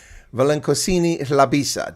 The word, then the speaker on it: Velenkosini Hlabisa: pronounce this correctly because his first name is a bit of a challenge for an Anglo like me, but Velenkosini Hlabisa. Did I get it correct, sir?